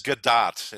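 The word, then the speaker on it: Gadot: and Brendan it is G do is how it's pronounced yeah it's like dot with a g in front of it I know we've talked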